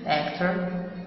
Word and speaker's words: actor: actor معناها ممثل، actor اللي هنا الأو بتتنطق زي الإي بالظبط. okay.